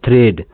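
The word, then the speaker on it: thread: जैसे यहां लिखा हुआ है टी एच आर ई ए डी इसको पढ़ते हैं थ्रेड थ्रेड का मतलब होता है धागा ठीक अगला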